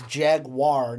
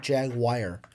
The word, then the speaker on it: Jaguar: we've gotten comments or how it's jaguar not jagwire it's a Jaguar what a I hope